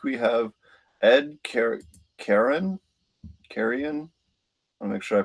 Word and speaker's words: Carreon: 157 this week we have Edie care Karen carrion I make sure I pronounce her name right carry on carry on awesome thank you thanks so much